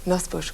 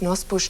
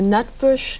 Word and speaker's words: Nosbusch: die Amerikaner einfach mit Nosbusch nicht zurechtkamen. Wie haben die das denn ausgesprochen? Ja, also so richtig, es klang dann teilweise Nutbush, Nussbush, Nutbush.